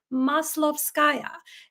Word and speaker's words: Maslovskaya: for your advice my name is hard to pronounce it is maslovskaya and to make everyone's lives easier I was